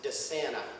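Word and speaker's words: DeSana: day it's Pro pronounced Dana not Dan Dana so if you're confused think of Santa Claus to Santa and you'll get it right that's what I've been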